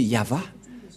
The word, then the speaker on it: Yahvah: mais la vrai lecture de ce terme c'est yava je vais vous apprendre directement mais tout d'abord